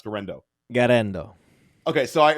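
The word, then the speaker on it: Guerendo: guys like Jordan Mason give guys like Isaac gendo Matt am I pronouncing gendo correctly how do you pronounce gendo gendo okay so I mispronounced it thank you Matt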